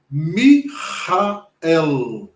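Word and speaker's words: מיכאל: O L não tem som de U. Ele tem o som do L com a língua no céu da boca. Então, como ficaria esta palavra? Essa palavra aí é Mihael.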